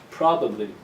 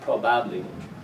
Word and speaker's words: probably: This first syllable is the strong one, so the ba of the second syllable becomes weak. The, probably, not probably, probably.